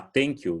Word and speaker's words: thank you: Se você falar thank you, não tem problema, mas a pronúncia é com TH, tá?